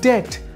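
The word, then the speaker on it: debt: যে এটা হচ্ছে কি ডেট ডেট বলতে হচ্ছে দেনা ঋণ আমরা বিয়ের উচ্চারণ করবো না ডিরেক্টলি ডিইটি ডেট তারপরে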